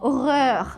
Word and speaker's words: horreur: airs et les horreurs c'est le mot aux horreurs oui alors souvent ils disent comme ça c'est